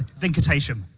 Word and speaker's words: Venkatesham: Venkatesham.